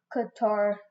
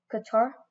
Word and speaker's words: Qatar: today I'll be predicting the FIFA World Cup Qatar 2022 group stage that's how you say it right Qatar or Qatar yeah Qatar I'm pretty good at